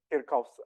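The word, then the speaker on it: Kirchhoff: here because the because K Kos law sorry I've been mispronouncing his his his name kov uh law which is the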